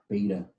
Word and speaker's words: beta: going to call that beta instead of theta rhymes with theta not data and yes the ground